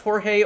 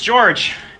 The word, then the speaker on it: George: First off, before we start this interview, I just wanted to ask you, is your name pronounced Jorge or George? Oh, it's George.